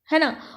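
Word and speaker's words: know: होगा कि पढ़ाई करो नहीं होता नो होता है कि तो साइलेंट होता है साइलेंट का मतलब क्या है कि यहां पर बच्चों इस स्पेलिंग में के एक ऐसा लेटर है जिसकी आपको आवाज नहीं आएगी बिल्कुल वैसे जैसे पीपल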